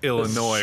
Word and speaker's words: Illinois: not Boardwalk not Boardwalk top board it's pronounced Illinois Wade not oh yeah I live in Chicago